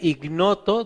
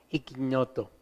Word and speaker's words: ignoto: Las palabras se escribe ignoto dei, ignoto se escribe, pero se dice en latín, si usted estudia y para sacerdote y va a hablar latín, usan la ñ, cuando está la G y la N junta usan la ñ, ignoto, ¿verdad?